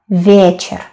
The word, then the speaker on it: вечер: We don't say вечер, вечер. No, вечер, вечер. Добрый день, добрый вечер.